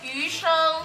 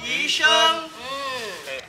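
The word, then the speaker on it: 鱼生: Pronounce it properly, it's yusheng. Yusheng.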